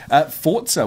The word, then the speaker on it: Forza: Last piece of news this week is that Forza Horizon 2 was announced by, us. Could you sit further away from your microphone? Yes. Forza Horizon 2 was announced. Alex is in the next room. Forza, well done for saying it right as well.